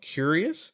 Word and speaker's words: Cureus: One in medicine, I'll just give it a shout out to them, is called Curious. It's spelled Cureus.